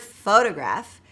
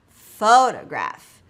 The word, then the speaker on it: photograph: For example, in the word Photograph, the first syllable is stressed, while the second and third syllables contain the schwa sound. Photograph, Photograph, right, and I'm exaggerating it for emphasis there.